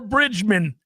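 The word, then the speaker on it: Bridgeman: Bridgerman. It's pretty good. Or Bridgman is how you'd say his name, along with Keith Mitchell, whom I hear is a good guy, but I loathe.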